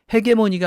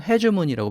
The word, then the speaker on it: hegemony: 그래서 reinforce dollar hegemony, 헤게모니가 아니고 hegemony라고 발음을 하죠.